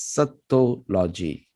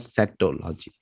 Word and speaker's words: Sattology: both sanskrit and english so it would pronounce it as sato logi not sectology then becomes sanskrit and